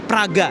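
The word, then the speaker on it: Прага: Yang ada A ee tulisannya mungkin sedikit kayak huruf N, P, A terus ada R, ada A. Itu bacanya Praga.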